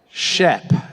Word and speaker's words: SHPE: from a lifetime member of Shep and I say it like that because that's how he likes to say it you know Miguel right